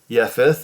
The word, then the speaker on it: Japheth: prove it right now now shem and yephith is how they pronounce it here took a garment and